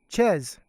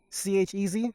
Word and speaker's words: Chez: Chez. C-H-E-Z?